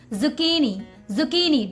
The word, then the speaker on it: zucchini: Okay, the correct pronunciation of this vegetable name is zucchini.